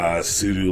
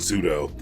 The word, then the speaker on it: sudo: not the only one who pronounced sue do like judo so I actually only recently stopped saying pseudo I I said pseudo